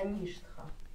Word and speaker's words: ништха: Например, вот штха, да? Ше и тха. Вот предыдущая, соответственно, вот она нарисована короткой, но на ней будет ударение. Это что, так коротковизна обозначает? Ну, это вот, если я вот здесь написал в качестве примера, то есть вот это предыдущая, она будет под ударением.